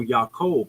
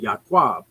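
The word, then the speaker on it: יעקב: is uh and I the way I say Jacob or yaakov it's actually yakwa um so I've been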